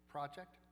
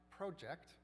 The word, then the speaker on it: project: Rhythm matters even in the single words. For example, record contrast, contrast, project, project, or produce or produce. These can either be nouns or verbs depending on which syllable is stressed.